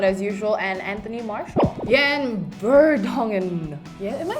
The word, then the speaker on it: Jan Vertonghen: Jan Vertonghen. Yeah, am I saying that right? Yes, you're saying it right. Jan Vertonghen.